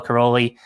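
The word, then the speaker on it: Károlyi: Bella Karoly, that's how he pronounced it. But again, the American version, that's the Hungarian, I guess, pronunciation because it's a Hungarian name.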